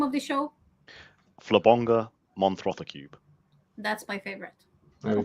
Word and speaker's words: Flabonga Monthrothacube: Can you pronounce it for me, Dale? What's the name of the show? Flabonga Monthrothacube.